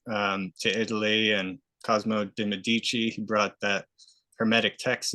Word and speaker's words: Medici: so many Americans and they say Medici you know but in in Europe like we say Medici Medici and I've been there